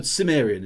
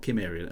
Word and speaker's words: Cimmerian: Oh, Cimmerian, is it? Not Cimmerian. Okay, Cimmerian with a soft C.